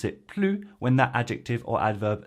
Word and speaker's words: plus: If plus is used with a number or expresses a quantity or proportion, then we combine it with de, but do not pronounce the S.